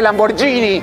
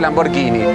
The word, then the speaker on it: Lamborghini: No se dice Lamborghini, se dice Lamborghini.